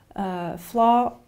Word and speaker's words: flaw: Flaw, pour les défauts, c'est un O long comme dans law.